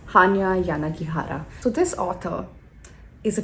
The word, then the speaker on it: Yanagihara: by hanya yana ghihara i always have problems pronouncing that name hanya yanagihara so this author is a cheeky one i